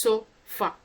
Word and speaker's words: sofa: sound it's found or it's found in an unstressed syllables in the first syllable of sofa or um the second syllable of banana so syllable here is so far so is the first syllable